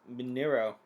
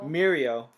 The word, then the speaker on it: Mirio: Anyway, so as you just mentioned, like the other half of the episode is basically Deku with Minero. Did I say it right? Mirio.